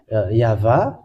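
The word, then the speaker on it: יהוה: It's Yah, and this one side is Vah. This is read as Vah.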